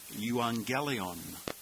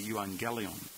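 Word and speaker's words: εὐαγγέλιον: 11 is the noun euangelion you see Evangelical there the two gamas together have the pronunciation of NG so we will pronounce this yelon the genitive is yuelu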